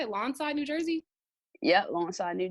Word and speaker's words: Lawnside: Lawnside, New Jersey?